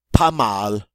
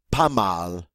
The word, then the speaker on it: pas mal: Pas mal. Pas mal.